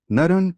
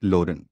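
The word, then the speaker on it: Naren: by his premonistic name naran but with his bihari accent he pronounced it loren sri rama krishna lived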